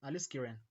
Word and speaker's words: aliskiren: Pronunciation may differ depending on your accent. For me, I think it's called aliskiren. Aliskiren. I think that that I think that's the that's the right uh pronunciation.